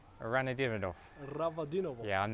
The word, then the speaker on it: Ravadinovo: Michael, how do you pronounce the name of this place? Ravadinovo. Ranadinov. Ravadinovo.